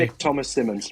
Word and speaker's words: Nick Thomas-Symonds: Nick Thomas-Symonds.